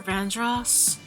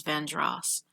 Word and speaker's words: Vandross: Luther Vandross. Some of us say Vandros, but I think he pronounced his name as Vandross.